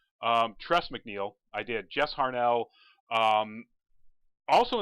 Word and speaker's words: Tress MacNeille: with a picture of test McNeal test tress MacNeille I got her name wrong I think tress MacNeille I did Jess Harnell